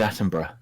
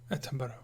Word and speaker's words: Attenborough: David Attenborough. Attenborough. Attenborough. Well, there's O's in there. which you just I know. Yeah, well, it's a British name. Sometimes you don't pronounce it.